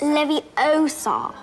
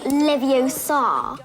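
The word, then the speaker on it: Leviosa: strives for excellence besides you're saying it wrong it's Levy Oar not Levar and since Harry can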